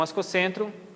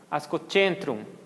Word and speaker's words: Ascocentrum: Então, a letra C, antes da vogal E e I, tem o som de TCH. Então, o que a gente conhece como ascocentrum, ascocentrum.